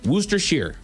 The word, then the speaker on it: Worcestershire: Someone even said Worcestershire. It's Worcestershire on this list. Worcestershire. Yep. Worcestershire. What is the proper pronunciation? It says it's actually pronounced Worcestershire. Worcester, like it's in Boston.